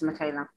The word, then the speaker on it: Mikhaila: here okay so i don't know much about michael is that how you pronounce her name yeah yeah it's michaela so i don't know much about her personally